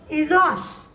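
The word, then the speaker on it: INEOS: गेली बंगलोर प्लॉट साठी इनोस म्हणजे इनोसचा या स्पेलिंग वेगळा आहे आय एन ई ओ एस इनोस बरोबर क्षमता विस्तारासाठी करार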